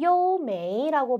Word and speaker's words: 优美: 밑에 있는 단어는 요메이라고 발음을 하고요. 여러분, 요는 우리 뛰어나다, 우수하다 이런 의미였죠.